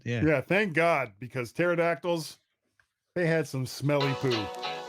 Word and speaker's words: pterodactyls: that cavemen couldn't hear pterodactyls going to the bathroom why not because the p is silent oh that's good end